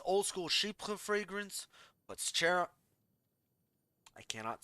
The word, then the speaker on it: Chypre: It is a true old school Chypre fragrance. That's how you say it, Chypre? Chypre? Oui, oui.